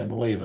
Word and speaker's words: Maleva: Yeah, Maleva, that's how you say it.